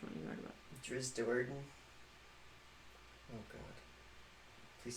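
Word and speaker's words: Drizzt Do'Urden: Driz Doerden.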